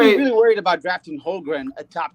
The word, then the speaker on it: Holmgren: How do you pronounce it? Chet Holmgren. Holmgren.